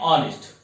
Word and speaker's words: honest: Okay, an hour and honest not hour honest. So we pronounce like a hour and honest.